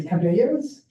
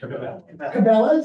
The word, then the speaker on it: Cabela's: you pass a place, I'm not going to pronounce this correctly, Cabellos. For those of you who are hunters, you might know the correct. So Cabellos is one of the big, what is it? Cabela's, is that how you pronounce it?